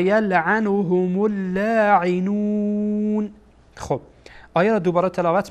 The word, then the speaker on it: اللاعنون: در واقع وصل میشه، چرا که لام از حروف شمسیه هست و این لام در اینجا کاربرد نداره و تلفظ نمیشه. ملاعنون و یلعنهم اللاعنون.